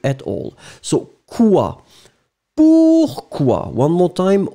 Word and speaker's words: quoi: Alors remember that in fact, the funny thing in French is that you need always to, to connect the Q with the U, even if you don't pronounce the U at all.